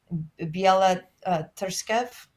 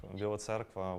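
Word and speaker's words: Біла Церква: Biela Terskev, I believe it's called White Church, south of Kiev. Yeah, so it would be interesting to go there. Biela Cerkva, White Church.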